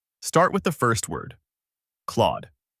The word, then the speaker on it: Claude: The target pronunciation is Claude. Begin with the crisp K sound, followed immediately by L so it blends as KL. Keep it clean and quick. No extra vowel in between.